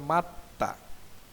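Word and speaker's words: 맞다: দনা হয়ে ত হবে তাহলে সঠিক উচ্চারণ হবে উচ্চারণ হবে মাত্তা মানে আঘাত করা ইয়োগুল হাদা গালি দেওয়া ইয়োগুল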